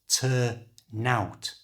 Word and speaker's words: turn out: by native English speakers who pronounce it as one word by moving the n from the end of turn to the front of the o of out. So turn out becomes turn out, turn out.